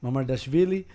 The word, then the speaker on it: Mamardashvili: Le Mans or Mamard Vishili, or how do you say his name? Mamadashvili. Mamardashvili, Yeah.